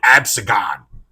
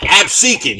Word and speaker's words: Absecon: store in Absecon because Joey Styles mispronounced it and called it Absagon. Of course he fucking did. Well, he's from New York, Joey. Oh my God! Oh my God! Absecon, you fucking fancy Frenchman guinea cocksucker!